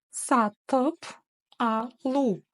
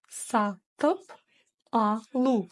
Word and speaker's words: сатып алу: Просто помним о том, что буква это не русская буква это ее краткая версия. Она читается кратко, твердо, в общем, быстро. Быстро она читается, очень и очень быстро.